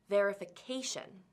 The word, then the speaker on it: verification: But when we turn it into a noun, there are now 5 syllables, verification. Because the word ends in tion, we know which syllable will be stressed, the syllable before the ending. So the stress falls on K for verification.